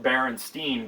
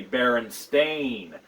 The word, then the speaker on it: Berenstain: you're not familiar with them uh many people pronounce it berenstein but it's actually baron spain and it's spelled b-e-r-e-n-s-t-a-i-n many people falsely remember